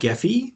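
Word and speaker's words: Gephi: can sometimes be appealing to people it's called geffy which is spelled g p um so that's what I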